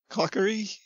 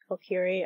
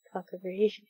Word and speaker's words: Kokiri: It's really funny the way you try to pronounce Kokiri. I thought he was saying cockery.